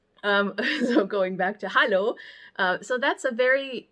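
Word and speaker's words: Hallo: sweet little greeting that sounds almost exactly the same and that's Hollow so just the difference in pronunciation it's just spelled with an a I'm going to put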